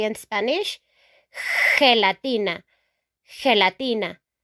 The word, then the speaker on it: gelatina: Jelly in English, we say in Spanish, gelatina. Gelatina. Gelatina. Okay? It's not a G sound anymore, it's a H sound.